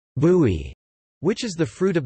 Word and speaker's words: buy: Popular fresh juices are made from bissap, ginger, bai, pronounced bui, which is the fruit of the baobab tree,